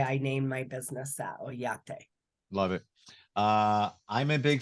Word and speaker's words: Oyate: Yeah, and it's pronounced Oyate, which you pronounce it wonderful, which Oyate means my family, my tribe.